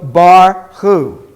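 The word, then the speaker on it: ברכו: you'll hear more so bar who now we say bar because the schwa closes the syllable bar who go ahead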